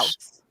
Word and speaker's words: Laos: say this word, because we say Laos. Laos. Like Laos, mouse. the country in Southeast Asia. Yeah. We say it like Laos? mouse. No. Yeah, rhymes with mouse. But if it's supposed to rhyme with chaos, Laos.